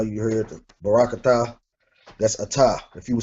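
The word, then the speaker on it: אתה: So if you were saying this to a male, like I know you heard the barakata, that's ata.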